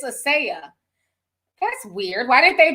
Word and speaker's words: Asia: Asia Muhammad says, hey, sis, again, my name is pronounced, Asaya. Not like the content. Oh, but it's spelled like Asia, but it's Asaya.